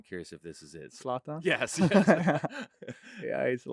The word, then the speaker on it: Zlatan: Zlatan.